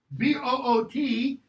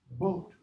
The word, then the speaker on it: boot: Double O is pronounced long O. So, B-O-O-T is not boot, boat.